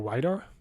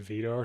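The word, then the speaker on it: Widar: I think that might be Jarno Weidar. There's a rider trying to bridge across from the group. He's in the middle. Sorry, but the commentator just said Vidar, so I've been pronouncing his name wrong.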